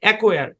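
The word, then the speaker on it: acquire: কিন্তু এখানে এতটুকু বুঝে রাখেন, এখানে সিটা সাইলেন্স।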